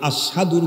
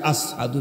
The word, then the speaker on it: আশহাদু: এরপরে তার কন্ঠের অবস্থা হলো উনি কখনোইশিন উচ্চারণ করতে পারতেন না। উনি আশহাদুর জায়গায় আসহাদু বলে ফেলতেন।